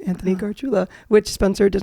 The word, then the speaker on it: Gargiula: my social media is just my name Anthony garula which Spencer does not know how to pronounce that's not true Anthony Gula just said